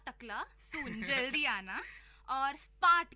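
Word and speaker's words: spät: Bald का मतलब है सून, नॉट टकला, सून जल्दी आना, और स्पार्ट का मतलब है लेट। स्पार्ट का मतलब है लेट।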